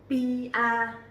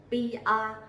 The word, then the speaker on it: PR: PR. PR. Very easy, right? So you will see that the P sound here we will pronounce very strongly. P. Not like P in English. PR.